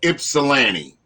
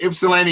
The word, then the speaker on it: Ypsilanti: the south side of ypsilanti south side of ypsilanti okay ipsilanti is spelled y-p-s-i-l-a-n-t-i and ipsilanti is a